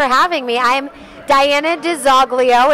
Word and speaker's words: DiZoglio: actually as third generation we actually say the name uh a little bit differently than it's supposed to be pronounced this is supposed to be de solio we say de zoglio so however you want